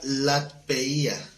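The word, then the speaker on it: λατρεία: Aquí la palabra culto en Romanos 12:1 es la palabra latpeia. Lat, L-A-T, P-E-I-A, acento en la I.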